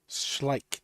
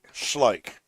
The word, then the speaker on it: Schleich: old one ball Hill how do you pronounce Andy's last name it's schlik schlik yeah he didn't want